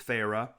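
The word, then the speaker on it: Feyre: Fe R, you're like, "How do you pronounce this? Is it fair? Is it fire? Is it fairy? Fairy. One of the sisters says, "Please, Farah." She drew out the two syllables of my name.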